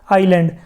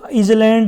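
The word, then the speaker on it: island: अब देखिए यहाँ पे आपको इसको आइसलैंड या फिर आइसलैंड नहीं बोलना, ये क्या बोलेंगे इसको आइलैंड, क्योंकि इसमें जो एस है ये क्या है साइलेंट, जो है आइलैंड बोलेंगे इसको।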